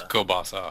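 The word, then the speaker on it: kielbasa: It's not Kabasi. It's Kasa. It's Kobasa. Kobasa.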